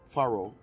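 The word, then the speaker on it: Farrow: So that would be Livingston, FedEx, UPS, Faro, that's how it's pronounced, and H.R.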